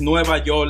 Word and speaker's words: Nueva York: If you guys know and you are Dominican, you know that you pronounce New York as Nueva York.